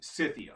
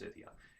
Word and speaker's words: Scythia: was then known as scythia or scythia okay i think it's called pronounced cythia s-c-y-t-h-i-a i think and i should actually